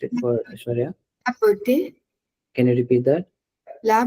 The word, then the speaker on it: beauté: So it's not beauté Hmm. or beauty. Can you say that now, Aishwarya? Beauté. Yes. So EAU sound in French is exactly the same as O sound in English.